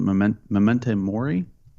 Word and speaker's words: memento mori: it properly because i'm not a stoke but memento mori i said think how it's pronounced which is basically remember that you will